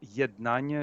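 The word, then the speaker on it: Yednannia: i put in the chat an organization called yet nagna it's that's the pronunciation it means uh unite but e-d-n-a-n-n-i-a and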